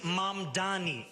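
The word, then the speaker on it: Mamdani: The name is Mam Dani.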